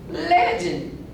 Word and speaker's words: legend: In tragic, the letter G makes the J sound. Tragic. Let's say this word. This word is legend. Legend.